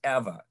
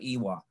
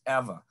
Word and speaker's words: Ewa: ewa in hawaii and we pronounce the w's v so that's eva when when we know we have visitors here they said they came from iwa and then we say nope that's eva so there was an